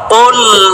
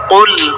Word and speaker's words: قل: قل هو الله أحد এখানে আমরা অনেকেই কাফ বলি, কুল বলি। এখানে কফটাকে মোটা করে পড়তে হবে। কুল হুয়াল্লাহু আহাদ, এখানে সাকিন হবে অর্থাৎ জজম হবে। কুল হুয়াল্লাহু আহাদ, কফ মোটা করে উচ্চারণ করতে হবে।